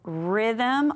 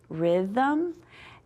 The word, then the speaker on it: rhythm: And then rhythm, RH, we don't say the H, it's just hiding out right there, rhythm.